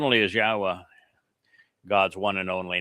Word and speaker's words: Yahowah: It's based upon the verb haya, which means to exist, which explains how to pronounce 3 of the 4 letters in Yahowah.